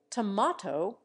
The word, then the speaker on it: tomato: never drama or drama tomato with the a of bat may sometimes borrow the a of plate but tomahto is confined to New England and the South hurrah in American has